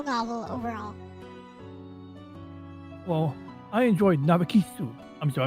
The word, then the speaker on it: Narcissu: Well, I enjoyed Narcissu. I'm sorry, I'm just saying it like the Japanese pronunciation because, you know, they always put like an extra, what do you call it, syllable after consonants. But Narcissus or Narcissu.